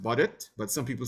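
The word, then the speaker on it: Baudot: some people pronounce it differently so it's really pronounced bodit but some people say Bodo or Bodo you know like but it's really boded um boded code and boded code uses five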